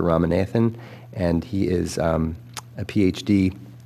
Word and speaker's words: Ramanathan: Ram because his name is difficult to pronounce, but it's Dr. Ramanathan, and he is a